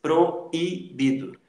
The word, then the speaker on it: proibido: Você diz proibido. Proibido. Isso é proibido. Ok? Então, isso é um hiato, é o encontro de duas vogais, tá? Em sílabas separadas, e você separa, inclusive, na pronúncia.